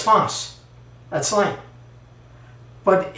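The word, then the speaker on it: φῶς: But it has the Greek word that I spelled out here for myself, so I would know how to say it right. It's phos.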